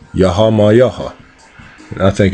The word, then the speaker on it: YAH: And that's how it's pronounced. YAH.